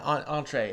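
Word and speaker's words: entrée: Yeah, entree is how you pronounce that.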